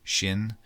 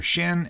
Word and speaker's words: shin: some some things like you'll have a letter shin and a letter sin uh which are basic or Sheen sinen however it's however different people pronounce it looks like a letter